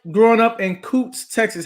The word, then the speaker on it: Kountze: I am from a small country town outside of Beaumont called Coots, Texas. Really? Yes. Okay. Texas girl, yes. Okay. Now, what was it like growing up in Coots, Texas?